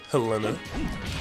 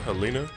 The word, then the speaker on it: Helena: Hello again, Helena. Or Helena. I don't know how you say it. It's Helena, you fucking idiot.